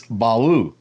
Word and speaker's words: Balu: text it's not it's Balu just like L is not pronounced l in ugaritic it's U and since the video